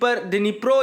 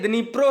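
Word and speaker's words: Dnipro: डिनीप्रो या डिनीपर नहीं है, डिनीप्रो है या नीप्रो, आप जो भी बोलें, साइलेंट करके बोलेंगे तो नीप्रो बोलोगे और नहीं करके बोलोगे तो डिनीप्रो बोलोगे, तो जो भी बोलो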